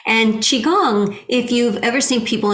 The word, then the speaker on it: qigong: call us in the past they'll say like qui gong they're hesitant because they don't want to say it wrong and qigong if you've ever seen people in the park